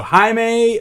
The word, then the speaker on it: Jaime: He actually says his name's pronounced Jaime. So Jaime Mayers, or hopefully I did the last name right.